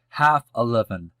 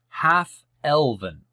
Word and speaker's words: half-elven: Millennia old, Elrond, half-11, is the son of Arendelle, the Mariner. Hope I pronounced that correctly.